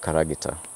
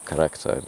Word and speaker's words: Karagita: Naivasha South Lake Road, called Karagita or Character, depending on your pronunciation.